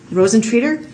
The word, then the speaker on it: Rosentreater: It's hard to pronounce her name, but Rosentier. Rosentreater? Would that sound right? Yeah.